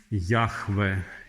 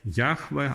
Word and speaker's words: Яхве: тетраграматон їхвий їхвих як Як воно правильно читається ніхто не знаєть але най найппрайвдоподобніша версія що звучить вона як ее яхве яхве або Єгова звичайно значить починається все